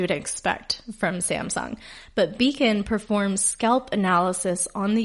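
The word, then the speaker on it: Becon: And this one is spelled differently as well. It's B-E-C-O-N, Beacon.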